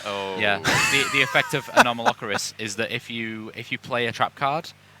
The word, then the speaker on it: Anomalocaris: So he's gone and got the card I can never pronounce. Anomalocaris. Anomalocaris. Yeah, Anomalocaris.